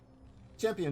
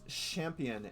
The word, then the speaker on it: Champion: Champion should know what's going on here. Also, I'm guessing it's Champion and not Champion. Is the Quebecois pronunciation.